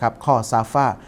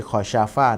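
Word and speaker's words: خسف: ด้วย นะ ครับ นะ ข้อ ซาฟ ยักซีฟู่ ไม่ ใช่ คอ ชาฟ่า นะ ผม อ่าน ออก เสียง เป็น ตัว ชีน ไป อัน นี้ ต้อง แก้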